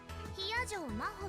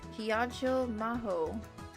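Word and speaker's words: 比屋定真帆: Hiyajo Maho って読むの。 Hiyajo Maho.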